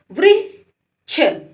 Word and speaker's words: वृक्ष: अभी देखो वा में लगी है तो वृक्ष। वृक्ष। क्या पढ़ेंगे इसको? वृक्ष। क्या पढ़ेंगे? वृक्ष। बस आपको उच्चारण याद रखना है कि वा में लग गई तो वृक्ष।